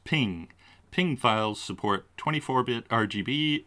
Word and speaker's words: PNG: though for screen use png stands for portable network graphics pronounced ping ping files support 24-bit